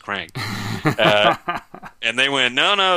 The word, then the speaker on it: QRANK: him like you know it's actually pronounced crank and they went no